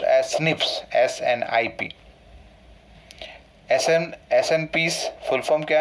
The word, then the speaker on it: SNPs: SNPs, but here this is pronounced as SNPs, SNIP.